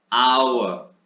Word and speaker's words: hour: तो मैंने बताया था कि वर्ड ऐसे हैं जिनमें H साइलेंट रहता है और इनका प्रोनाउंसिएशन वाउल साउंड से होता है, HOUR, आवर, आवर।